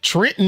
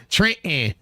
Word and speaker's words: Trenton: The T is silent. Trenton. You like, wait a minute. I thought it was Trenton. No, it's Trenton.